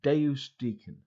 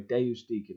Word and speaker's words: Deusdaecon: swing out bounce it it's pronounced Dave's Deacon I have said it before in videos but I guess I don't say enough but anyway day-use Deacon if you need to know how to pronounce it so yeah hello everybody